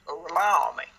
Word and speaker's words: Gorlami: thing I got to say about this is Gorlami. Ooh, that's a bingo. No. Is that how you say it? You just say bingo. No, it's the Gorlami. So one more time. Gorlami.